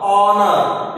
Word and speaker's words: honour: HONOUR, honor. Here, H is the silent letter. We don't pronounce the letter H.